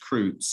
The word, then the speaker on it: Krutz: My last name is pronounced Krutz. It rhymes with roots, okay?